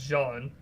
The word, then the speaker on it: Can: And I will also say that I think his name's pronounced Jean, but Jean Kabadai has a great channel on YouTube as well, and he's got really good reviews on his courses.